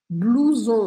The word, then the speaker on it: blouson: Por exemplo, na palavra blouson, a gente tem OU com som de U. Blouson, a gente não fala blouson, né?